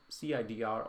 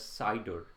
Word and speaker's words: CIDR: This is something called CIDR, or we pronounce it as CIDR.